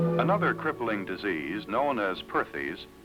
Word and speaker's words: Perthes: her doctors another crippling disease known as Perthes pronounced partes was the demoralizing ailment that brought this little